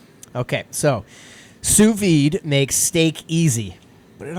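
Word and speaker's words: sous vide: Let me just basically say suvi. Mhm. That's how it's pronounced.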